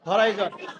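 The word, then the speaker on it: horizon: ঠিক আছে, এটা শিখে আসছে হরিজন। এখানে উচ্চারণ কি হবে? হরাইজন।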